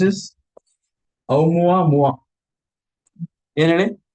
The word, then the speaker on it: Oumuamua: How do you pronounce this? Oumuamua. ಏನ್ ಹೇಳಿ? Oumuamua.